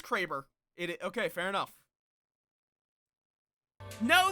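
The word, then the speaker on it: Kraber: cuz I've always heard it pronounced the cber in um Titanfall. No, it is Craber.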